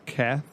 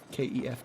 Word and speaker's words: Kef: You say Kath? Kef. K-E-F, Kef.